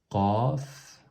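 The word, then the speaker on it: ق: Ici, c'est un son plus... C'est pas comme le K du français. Qaf. On serre la gorge au fond. Au fond de la gorge, on serre, on resserre la gorge, et donc ça fait le son Qaf.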